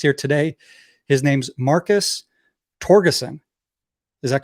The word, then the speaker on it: Torgerson: His name's Marcus Torgerson.